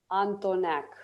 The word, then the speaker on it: Antoneac: Antoneac. Oh, so we don't say the E.